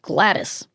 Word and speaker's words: Gwladys: Why is her name is spelled Gwladys. Gladys. But it's just Gladys.